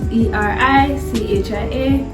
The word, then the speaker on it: Ericia: Okay, well, my real name is Ericia. That is Erichia.